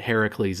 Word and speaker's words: Heracles: All right, Heracles, is that how you pronounce it? Yeah. You might know him as Hercules, but Heracles is the correct pronunciation.